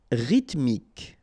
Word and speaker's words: rythmique: Rythmique. Remember, Y pronounced like I and then H doesn't exist. Rythmique.